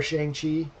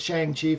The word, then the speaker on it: Shang-Chi: nothing nothing significant uh we did get our shang chi move tickets tonight for next for 30 minutes